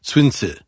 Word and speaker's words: Sun Tzu: from hong kong read the librivox version he pronounced it swinsu which i don't think i can say 50